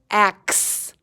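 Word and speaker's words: axe: in the middle but listen to the sound ax it sounds like the X is at the end doesn't it that's because that E is silent six beginning middle or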